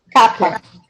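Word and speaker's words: κάππα: Capa. Capa. E aí a pronúncia não é complicada, porque ela se assemelha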